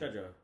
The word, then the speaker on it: Trejo: Trejo.